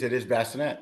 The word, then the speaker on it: Bacinett: how do you say your last name? Is it Bacinett? It is Bacinett. That is correct.